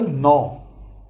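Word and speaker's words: नौ: Number 9 is called as a no. So this is number 9, which is pronounced in Hindi as no, and it is written as like this.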